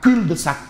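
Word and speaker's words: cul-de-sac: Bon le ne se prononce pas se prononce pas. Voilà. Parce que le le professeur Pape Big, il va me dire "Mais attends, ah non, il a son bigou par dit non, le L se prononce pas son cul de sac.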